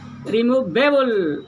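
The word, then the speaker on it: removable: जैसे यहाँ देखिए 1 2 3 पार्ट इसमें है ना, 3 सिलेबल है, लेकिन दबाव देंगे एबल पर, रिमूवेबल, रिमूवेबल, रिमूवेबल, लास्ट में जो एबल है उस पर प्रेस दिया जाता है।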